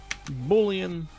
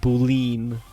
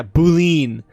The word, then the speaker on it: boolean: going to be a boolean and yes or as a former coworker of mine pronounced boo leaned on to smack her